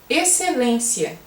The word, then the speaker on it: excelência: Agora, existe também um caso em que o X não tem som nenhum. Por exemplo, na palavra excelência. Excelência, você não vê o X. Por isso que na hora de escrever as pessoas às vezes se esquecem do X, não é mesmo?